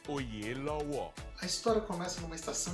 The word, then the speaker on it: Oyelowo: Como é que é essa pronúncia direito? It's actually Oyelowo.